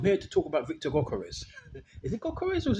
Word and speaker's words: Gyökeres: Yeah, it could be Gyökeres. Could be a silent G and it's pronounced with the Y. But I think Gyökeres is the more proper name, proper pronunciation of him.